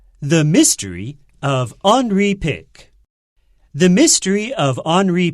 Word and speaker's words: Henri: Yeah，又到了我们好书俱乐部的单元喽。今天我要跟各位介绍的好书呢，叫做《退稿图书馆》，英文呢叫做《The Mystery of Henri Pick》。好，这个 Henry 你可能会看到这个拼法有点不太一样，对不对？好，这个地方它做的是 I 结尾。事实上呢，这个 Henri Pick 他其实是一个法国人。那法文的话要念成 Henri Pick。好，他会念成这样，所以他在讲到这个亨利先生的秘密。